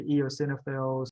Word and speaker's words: eosinophil: is the hardest one remember the the emphasis is on the middle so say EOS perfect see very simple very